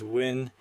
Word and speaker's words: Nguyen: For example, if your contact's name is Nguyen, you might write the phonetic version as Win.